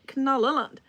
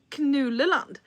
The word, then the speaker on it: Knallerland: And Carl knows where this is going because I wasn't pronouncing it Knallerland. I was pronouncing it Knulleland.